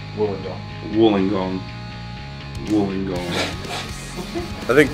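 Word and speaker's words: Wollongong: I think my favorite show of the Australian tour was Walling Gong, if that's how you say it. It's just it was a very tiny room. No, not how you say it. Woollingong.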